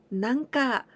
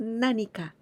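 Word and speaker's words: 何か: Here again, sometimes you may hear なんか、なんか, and it sounds very casual. But the really correct one is 何か. I wanna eat something. 何か食べたいです。何か食べたい. But it's true that we can listen なんか with なん. But this sounds really casual way. And it's not polite at all.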